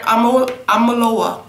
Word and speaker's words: Omolewa: Omolewa.